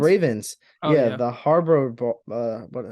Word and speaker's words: Harbaugh: Oh Yeah, yeah, the Harbor.